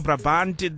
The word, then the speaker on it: Brabant: of Boxtel, in the north of Brabant, or Brabant, which is a province.